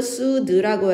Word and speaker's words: soothe: 발음 특이하죠? 수드라고 해요.